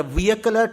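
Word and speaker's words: vehicular: ಹಾಗೆಯೇ ಮಾತಾಡೋವಾಗಲೂ ಕೂಡ ನಾವು ಈ ತರಹ ಕೆಲವು ಹೇಳಬೇಕು ಅಂತಲ್ಲ, ಆ ರೀತಿ ಕೆಲವು ಸಂದರ್ಭಗಳಲ್ಲಿ ನಾವು ಉಚ್ಚಾರ ಮಾಡಿಬಿಡ್ತೀವಿ. ವೆಹಿಕ್ಯುಲರ್ ಟ್ರಾಫಿಕ್ ಜಾಸ್ತಿ ಆಗೋಯ್ತು ಬೆಂಗಳೂರಲ್ಲಿ. ವೆಹಿಕಲ್ ಅಲ್ಲ, ವಿಯಕಲ್. ನೀನು ಕರೆಕ್ಟಾಗಿ ಪ್ರೊನೌನ್ಸ್ ಮಾಡಬೇಕಾದ್ರೆ ವಿಯಕುಲರ್ traffic is ಆನ್ the rice ಇನ್ ಬ್ಯಾಂಗ್ಳೂರ್ ಅಂತ ಹೇಳಬೇಕು.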